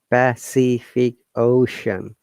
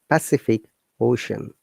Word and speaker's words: Pacific Ocean: you know word because in this word letter c has three different sounds pacific ocean sa ka and shah once again if you listen carefully the pacific ocean and very often it